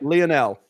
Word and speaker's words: Lionel: Lionel. Lionel? Okay. It's spelled like you're going to say Lionel, but it's Lionel.